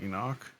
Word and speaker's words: Enoch: Enic Drebber, engineer. I read it with my eyes. Fuck. It's pronounced Enoch.